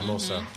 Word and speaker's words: Hermosa: The thing is, I know the H is silent. That's all I know now. Hermosa. Yeah, you got to roll your R.